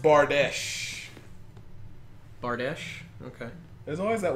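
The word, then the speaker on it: Bardiche: It's pronounced Bardesh.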